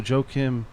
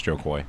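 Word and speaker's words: Jo Koy: But see, even that, so Joe Kim, did I say his name right? No. Was Joe Kim, it's Joe Coy.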